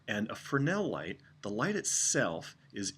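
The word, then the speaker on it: Fresnel: safety this light is afrin l light it's spelled fres NE l but the s of silence for now and afrin l light the light itself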